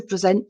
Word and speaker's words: present: I would like to present to you my wife um and the stress is on the second part of the word sent present present um